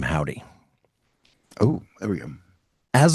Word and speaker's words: Joudy: So, the name of the band is not H O W D Y. It is J O U D Y, which in Spanish is pronounced Howdy.